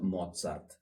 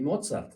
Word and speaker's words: Mozart: acerca de Wolfgang Amadeus Mozart. Y bueno, vamos a empezar directamente por su nombre. Wolfgang, eh, Amadeus, el gran el amado de Dios y Mozart. ¿Por qué pronuncio la Z un poquito más fuerte?